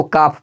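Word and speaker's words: calf: है देखिए यहां पर एफ से पहले आया हुआ हेल तो बिल्कुल साइलेंट होगा तो अब बताइए इसको क्या पढ़ेंगे तो काफी पढ़ेंगे याद रखिएगा देखिए यहां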